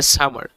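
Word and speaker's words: summer: যেমন দেখেন এই আর plus end অফ the word, আর যদি বাক্যের শেষে থাকে তখন আর সাইলেন্ট থাকে, এই যে এটা যেটা বলেছিলাম সামা, এখানে আরটা সাইলেন্ট। তারপরে আর প্লাস যদি ভাওয়েল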